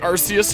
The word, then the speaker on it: Arceus: It looks like Arceus, or Arceus is like the technical pronunciation.